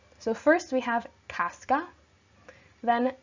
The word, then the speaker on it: Casca: their names the sound so first we have Casca then Dec is Brutus okay not to be